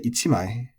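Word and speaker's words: 一枚: It's just it can also be said as sammai, but you're going to say ichimai, so with the accent on the chi, ichimai, and nimai with the accent on the ni.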